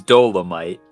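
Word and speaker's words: Dolemite: First of all, it's Dolomite. The human tornado. I don't know about all that. That's how it's pronounced.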